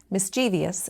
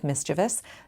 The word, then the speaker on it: mischievous: My silly sentence included three questionable pronunciations, mis-ˈchē-vē-əs instead of mis-chə-vəs, nyü-kyə-lər instead ofˈnü-klē-ər, and lī-ˌber-ē for ˈlī-ˌbrer-ē, all of which are in our dictionaries.